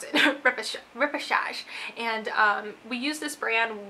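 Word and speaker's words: Repêchage: from a brand called massage that's how you pronounce it repechage and we use this brand when I was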